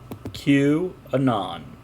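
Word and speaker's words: QAnon: Kuban on what did the letter Q and then anon like the first part of anonymous cubed on Q anon queuing on Q anon that's what it says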